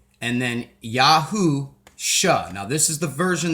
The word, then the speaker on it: Yahusha: the spelling of the name y-e-s-h-u-a and then Yahoo sha now this is the version that I use